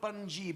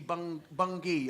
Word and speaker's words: Bungay: Yeah, not Bungay, Bungay, although it's written, you know, it's spelt Bungay, but you don't say Bungay. You can always tell when someone's not from the town. When they go, "Oh, I went to Bungay," so it's Bungay.